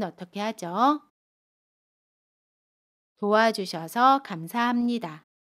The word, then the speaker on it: 감사합니다: 도와주셔서 감사합니다. 합은 함으로 발음해요.